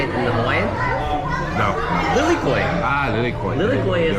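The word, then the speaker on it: lilikoʻi: Lilikoi.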